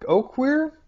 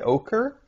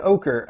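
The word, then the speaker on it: Oquirrh: it o oer o Oaker that's what I would say but you've included a guide that says you just say ochre that's not what it looks like but fine ochre uh and wasach I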